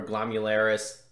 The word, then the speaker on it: glomerulus: blood go to something called a glomerulus or glomularis i don't know you know i've had like three different pronunciations from my professors so we're gonna go with glomerulus and so what that